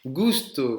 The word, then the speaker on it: gusto: Gusto, c'est un G, hein. Je vous ai prononcé un G. Donc vous mettez un G, gusto, et ça avec un re, justo. D'accord? Ce sont deux mots différents.